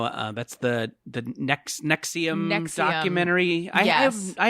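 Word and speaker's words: NXIVM: is spelled like nx it's all roman numerals right but it is pronounced nexium jordan you're right which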